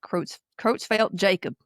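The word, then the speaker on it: Creutzfeldt-Jakob: Kitzfeld Yakopitzfeld Yakop. Yeah. Yeah. And some of you may have heard it said Croat Croatfeld Jacob.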